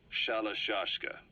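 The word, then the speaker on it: Shalashaska: known about that because somewhere along the line shoshka got stuck on the end of shiroshka the guerrillas were used in the name amongst themselves by the time I got to hearing about it pronunciation had wound up as shalashka so half Gulag half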